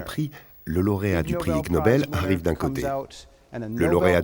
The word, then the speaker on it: Ig Nobel: Ig Nobel, c'est comme ça qu'on prononce ignoble en anglais.